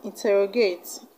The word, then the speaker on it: interrogate: this video versus distress you should stress the third syllable from the end the third level from the end of the word now the first